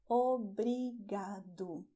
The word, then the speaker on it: obrigado: And for that you're going to have the tip of your tongue, that is going to touch very quickly the front teeth.